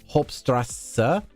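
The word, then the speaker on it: Hauptstraße: Like, for example, the Germans have a strange double S that looks like a B, where the bottom part of the B is not fully connected, but phonetically it sounds like Hauptstrasse. Hauptstrasse means main street, but the B, the B looking thing is actually two S's, so it's a long S.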